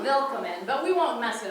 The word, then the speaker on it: willkommen: Because it's a little different. There's an E here, and there's an extra L, and instead of a C, it's a K, and it's a little weird, but phonetically, which means how it sounds, welcome. Right? It's sort of a willkommen, but we won't mess it up.